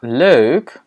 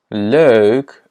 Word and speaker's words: leuk: Donc, on a leuk, leuk, leuk. Et si tu as du mal à prononcer le je pense pas parce qu'en français, on a ce son aussi.